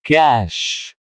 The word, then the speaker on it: cache: Cache. Meaning in Hindi, cache sangrah. Pronunciation in Hindi, cash.